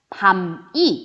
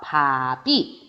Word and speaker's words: 밥이: 자, 이런 경우에는 여기가 비는 동그라미이기 때문에 비는 이응이기 때문에 발음을 할 때 어떻게 되냐면 밤이 이렇게 발음하는 게 아니라 그대로 넘어서 밥이 이렇게 발음을 해주죠.